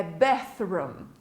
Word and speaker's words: bathroom: Não é nem um F, esse som, nem um S, certo? É bathroom, certo?